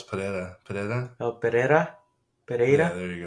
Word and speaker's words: Pereira: No, it's Pereira. Oh, Pereira. Yeah, there you go. Yeah, Pereira.